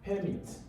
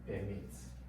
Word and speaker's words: permit: So words will often change, and when the use of words change, the stress on the syllable in that word will also shift, especially when it's between nouns to verbs, okay, or adjectives to prepositions.